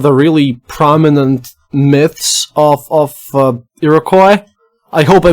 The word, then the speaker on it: Iroquois: So the French called them the Iroquois, and then in English it kind of changed to Iroquois.